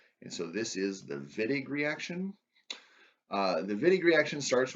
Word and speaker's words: Wittig: Uh, in German, W's are pronounced as V's, or so I've been told. And so this is the Wittig reaction.